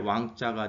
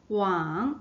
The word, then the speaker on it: 往: 네, 그래서 조금 거를 척자와 임금 주자가 합쳐져서 갈 왕자가 됐습니다. 가다. 네. 네, 그래서 이거 어떻게 발음하죠? 왕. 왕. 네, 이거는 발음도 또 똑같네요. 거의.